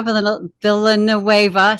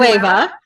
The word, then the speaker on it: Villanueva: So today I have with me Sarah Villanueva. So I can't. Okay. So today we have Sarah Villanueva. Villanueva.